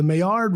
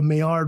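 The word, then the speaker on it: Maillard: it it's called a meard reaction it's French so it's spelled like male yard like m a i l l a r d but you can look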